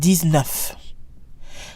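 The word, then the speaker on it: dix-neuf: DS and F is pronounced like a Z even though it's followed by a consonant these enough these enough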